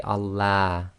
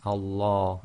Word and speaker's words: Allah: You can't say Allah. Okay, so be very careful. It's Allah. And that's the effect of having the sound of Fatha before the Lam of Allah.